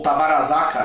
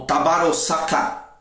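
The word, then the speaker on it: Tabaruzaka: está na batalha que tabarazucar ou tavarasaca né como às vezes ele também é chamada é o tabarossacar também é uma forma correta também de pronunciar Então essa esse ciclo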